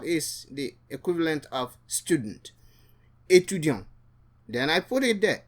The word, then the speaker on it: étudiant: The T is pronounced for a woman, but the T is silent for a male.